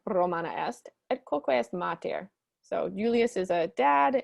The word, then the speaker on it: mater: It's interesting that mater has a long A in it, but pater, actually, the A in pater is short.